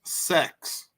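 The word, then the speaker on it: seks: sounds like sex and in Norwegian it's pronounced sex so I just want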